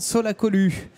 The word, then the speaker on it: Solacolu: Je suis avec, il est avec nous, Alexandre Solacolu. J'ai bien prononcé? C'est parfait, bonjour. J'ai eu peur, j'ai dit je dis Lou ou Lu? On peut dire les deux ou pas?